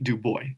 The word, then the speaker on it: Du Bois: Du Bois.